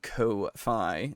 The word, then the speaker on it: Ko-fi: We have Patreon, and we have a Ko-fi. Excuse me. That's how you're supposed to pronounce it.